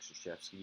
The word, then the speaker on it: Krzyzewski: His first press conference, you have to say, "My name is Mike Krzyzewski." His Polish name, it's spelled Krzywski.